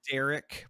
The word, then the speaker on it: Darick: race no no no it's Derek but it's d-a-r-i-c-k because your parents hating